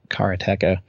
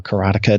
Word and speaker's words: Karateka: liked his earlier game Cara TECA or karateka depending thank you pronounce it I've never gotten a